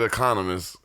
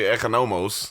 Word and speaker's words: Economos: How are you going to pronounce it Economist? It's totally Economos.